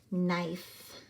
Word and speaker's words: knife: It has a silent letter at the beginning and a silent letter at the end, and that is what makes the vowel say its name. Knife.